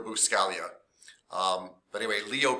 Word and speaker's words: Buscaglia: learning by leo scalia although it looks like it's spelled loose gaglia but it's leo buscaglia but anyway leo b